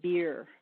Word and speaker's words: BEIR: of ionizing radiation and there's always a bad joke because the acronym is pronounced beer but it's beir biological effects of ionizing